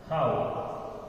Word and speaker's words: how: आप में से कुछ स्टूडेंट्स इसे मिस्टेक करते हैं इसे प्रोनाउंस करने में, वो इस वर्ड को एच ओ डब्ल्यू को क्या प्रोनाउंस करते हैं? हु, लेकिन ये हु नहीं है, ये है हाउ।